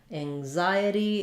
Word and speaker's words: anxiety: and comments for you anxiety is um stressed on the Zai syllable um and the N says the NG sound so thinking about it like Ang like an angle or hanger and and then the